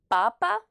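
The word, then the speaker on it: папа: masculins comme par exemple papa donc attention la prononciation en russe c'est le premier a qui est accentué donc on dit pas à pas dit papa la lettre A et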